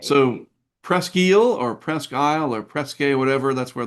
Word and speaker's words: Presque Isle: Yeah, so it says it's pronounced in a few ways, most commonly Presque Isle, rhymes with desk aisle, or Sure, okay.